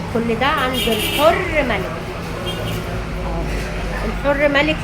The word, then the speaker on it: الحرملك: الحر ملك يا جماعه ده الاسم الصحيح عشان في ناس بتنطقوا الحراملك.